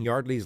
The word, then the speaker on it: Yeardley: It's pronounced Yeardley.